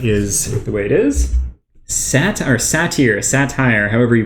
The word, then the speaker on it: satyr: Satire, however you pronounce that. Satyr.